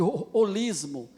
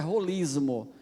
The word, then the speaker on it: holismo: Na verdade, a pronúncia grega é rolismo. Tem uma aspiração áspera, o espírito forte que a gente chama, né? Holismo. Mas em português, infelizmente, o H é mudo, a gente chama holismo.